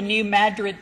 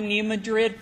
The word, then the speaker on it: New Madrid: National Disaster Medical System, we pronounce it the New Madrid Fault. Some people still call it the New Madrid Fault.